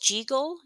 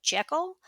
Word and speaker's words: Jekyll: Interestingly, the doctor here is pronounced Jekyll instead of Jekyll, and this is the oldest Scottish pronunciation and is how Stevenson said it was supposed to be pronounced in the book.